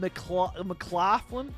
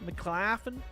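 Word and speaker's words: McLaughlin: baren Colonel RS M mclen mclen mclen yeah the H is silent uron uron urine urine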